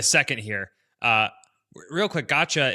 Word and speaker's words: gacha: Uh, real quick, Gotcha. It's spelled G A C HA.